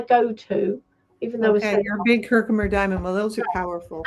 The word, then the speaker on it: Herkimer: Herkimer. We call it Herkimer here. But is that what you call it, Teresa, down south? Yeah, Herkimer? Probably I might say it wrong. I say everything wrong. No, but it comes from Herkimer, New York.